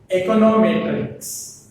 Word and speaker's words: econometrics: Econometrics. What is that? Econometrics. The stress falls on the matrix.